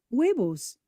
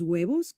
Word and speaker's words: huevos: Words in Spanish that begin with the we sound are written with a silent H, like the words for eggs, los huevos.